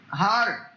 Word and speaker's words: Hodder: No, it's Hodder, double D.